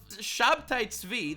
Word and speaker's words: Shabtai Tzvi: be a reincarnation of Shabtai Tzvi, that's his Hebrew pronunciation, a guy who, by the way, every single Jew remembers him as a bad guy.